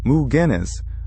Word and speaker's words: McGinnis: A teenager named Daniel McGinnis, pronounced Moo-Guinness, was walking through the southeastern woods of the island.